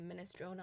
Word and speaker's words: minestrone: word here is like in English I think we say minestrone a lot but you have to respect the e at the end of every word and just just emphasize every vowel that you would see I think is this